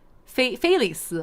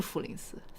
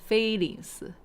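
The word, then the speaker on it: 菲林斯: 菲林斯哦，不是弗林斯，菲林斯。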